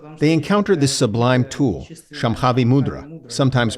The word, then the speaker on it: Shambhavi: Technically, the sh sound in the word Shambhavi should be soft, according to Sanskrit pronunciation.